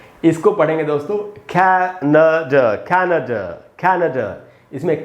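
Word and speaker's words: Canada: इसको पढ़ेंगे दोस्तों कैनाडा, कैनाडा, कैनाडा। इसमें कै में जो ए है वहीं पर रुकना है आपको, न के बाद आधा अ है, ड के बाद आधा अ है, कैनाडा ऐसे पढ़ना है, कैनाडा, कैनाडा।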